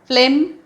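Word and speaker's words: phlegm: यॉन उच्चार अर्थ जांभई फ्लेम spelling फ्लेमचं पहा फक्त पी एच एल इ जी एम हे स्पेलिंग वेगळं आहे उच्चार आहे फ्लेम पी एच चा उच्चार फ असा होतोच म्हणून ते फ्लेम उच्चार झालाय आणि अर्थ आहे कफ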